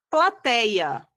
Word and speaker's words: plateia: Plateia. Plateia. Eu tenho a penúltima sílaba, tá? É uma paroxítona, é a sílaba mais forte e ela não tem acento porque se trata de um ditongo aberto, tá correto?